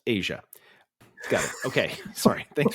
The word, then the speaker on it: Tiah: Anyway, it's pronounced Asia.